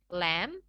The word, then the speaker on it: lamb: Oke, di sini pada kata-kata di bawah ini, huruf B yang ada di akhir katanya harus dihilangkan. Dalam artian nggak perlu kita ucapkan, ya. Jadi kita ucapkan kata-kata ini seperti berikut. Climb, come, calm, lamb, crumb, and dumb.